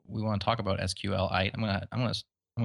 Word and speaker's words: SQLite: want to talk about sqlite I'm gonna I'm gonna I'm gonna try my best to pronounce it that way for you um I've been I guess I've called it SQL light just because even SQL